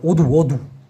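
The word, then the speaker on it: wudu: অজুকে বলা হয় ঔদু, এরকমটা উচ্চারণ হবে ওদু।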